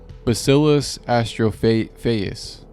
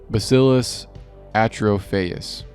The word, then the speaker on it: Bacillus atrophaeus: Bacillus astrophaeus. There's no S in that. Why did I put an S in that? Bacillus atrophaeus, or Bacillus globigii, and these bacteria were released as well.